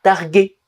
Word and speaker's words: targué: Pour obtenir le son G, on mettra un U après le G. Un guépard, une guitare. Et donc ici, targué, avec un U.